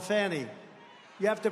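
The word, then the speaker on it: Fani: it fonny it's called Fanny you have to pronounce fonny I don't know how she get she should add a little u in there someplace if she wants people to call her now her and her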